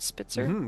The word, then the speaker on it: Spitzer: Spitzer?